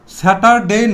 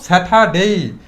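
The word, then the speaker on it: Saturday: স আমরা দেখতে পাচ্ছি আর এর পরে ডি আছে তাহলে এই আরটা কি থাকবে সাইলেন্ট থাকবে স্যাটারডে না বলে আমরা কি বলব স্যাটারডে এবং ডি ওয়াই এটাকে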